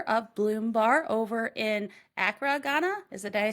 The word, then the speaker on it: Accra: is the founder of Bloom bar over in Acra Ghana is it did I say that right